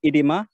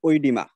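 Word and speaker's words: edema: হ্যাঁ, এটাকে আবার এটাকে দুইটা উচ্চারণ আছে, একটা হচ্ছে ইডিমা আর একটা ওয়ার্ড আছে ওইডিমা। ঠিক আছে, এটাকে কেউ কেউ ইডিমা বলে, কেউ কেউ ওইডিমা বলে, যেটা বলে দুটোই সঠিক।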